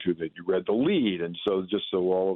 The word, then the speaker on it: lede: And so just so all of the listeners know, lead is the first paragraph that's supposed to get your attention when you read an article. That's journalism jargon. LEDE, I think is the way it's spelled.